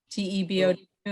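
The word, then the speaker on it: Thibault: might have changed um like tim tim tebow the football player t-e-b-o who is originally a tebow t-h-i-b-a-u-l-t but nobody could spell it so they just finished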